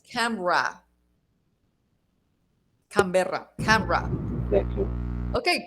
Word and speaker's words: Canberra: So in this case, it's Canberra, and we pronounce Canberra.